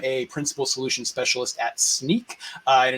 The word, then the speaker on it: Snyk: I am a Principal Solution Specialist at Snyk, and it is pronounced like sneaking around or a pair of sneakers.